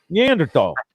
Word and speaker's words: Neanderthal: you know you see you leave a silent h in there too don't you neanderthal and yeah and you're